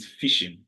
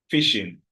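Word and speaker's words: phishing: h i s h the pronunciation goes like normal fish that you eat fishing but the spelling goes p h i s h i n g fishing and it is basically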